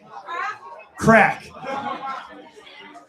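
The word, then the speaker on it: craic: Crack. Now, the Irish spell it C R A I C.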